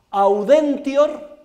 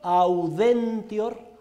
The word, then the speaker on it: audentior: malis, sed, S-E-D, contra, como suena, sed contra, audentior, audentior, A-U-D-E-N-T-I-O-R, audentior, ito, ito, que no es una palabra japonesa, sino latina. Tune cede malis sed contra audentior ito.